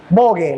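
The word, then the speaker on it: Vogue: alta y dura no bogue la marca bogue vamos a decirlo así como está escrito bogue se pronuncia bog bogue Sí ahorita vamos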